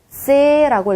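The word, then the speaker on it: ц: 세라고 읽어주시면 됩니다. 세 약간 신기하죠? T 그리고 플러스 Z 요 정도의 발음이라고 생각하시면 되겠네요. 한글로 친자면은 쌍지읒에 가까운 소리지만 한국어는 그냥 쯔 발음이라면 얘는 조금 더 T와 Z에 가까운 세 발음인 거예요.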